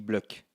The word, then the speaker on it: Bloch: On dit Bloch, même si ça s'écrit avec un CH à la fin.